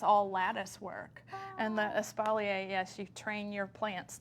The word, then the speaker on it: espalier: Hey, Carmen says espalier is another name. Oh, right. Is that how you pronounce that?